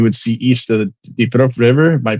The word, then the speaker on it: Dnipro: conflict, and you would see east of the Dnipro River. Am I pronouncing that correctly, Anthony?